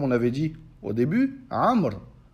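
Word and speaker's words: عمرو: Ou bien, par exemple, comme on avait dit au début, Amr. on a rajouté un waouh et on ne le prononce pas.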